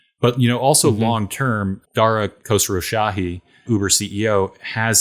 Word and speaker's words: Khosrowshahi: But, also long term, Dara Khosrowshahi, Uber CEO, has said that he does.